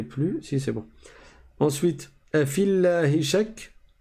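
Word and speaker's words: أفي الله شك: Ensuite, afillahi shak. Le ya ici, on ne le prononce pas du tout.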